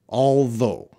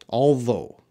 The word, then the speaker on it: although: you don't say those you don't say the gh that's silent you need it for spelling but not for your speaking I'm gonna check the